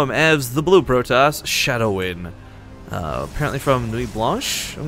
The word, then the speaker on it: Shadown: It's a barcode, but we all know him as the Blue Protoss, Shadown. Apparently from Nuit Blanche, I'm guessing, going off his Twitter. Yeah, it's actually Shadown.